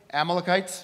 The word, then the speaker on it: Amalekites: Amalekites?